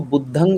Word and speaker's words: बुद्धं: ऐसे लोग बोलते हैं, लेकिन एक्चुअल जो है वो बुद्धंग होता है, लास्ट में न ग का जो जी, वाइब्रेशन जी। आता है, ये भी बहुत